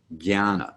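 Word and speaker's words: ज्ञान: y action on that when the tilde appears over in and after a j the j sound is transformed from a j sound to a g sound so guyana would be the pronunciation the second second of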